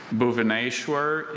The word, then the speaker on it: Bhubaneswar: Bhubaneswar is the only pronunciation I have.